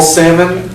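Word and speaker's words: Salmond: the and spell your last name salmon s a l o n El knows own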